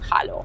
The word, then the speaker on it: hallo: Se escribe como hello, pero en vez de con e, con a y se pronuncia hao.